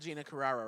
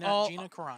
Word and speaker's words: Gina Carano: So we're talking about Gina Carrera, right? Carrera? Yeah, How do you say her name? Gia Carano. Yeah. Is that right? Yeah, I love how Gina Carano.